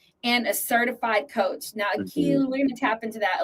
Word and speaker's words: Akeel: If you're saying it correctly, it's Akeel. Akeel.